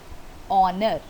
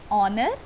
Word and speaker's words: honor: Before a word beginning with H but not sounded like H.